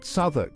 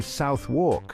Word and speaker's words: Southwark: Take Southwark, for example. You might be tempted to say Southwark, but it's actually pronounced Southwark.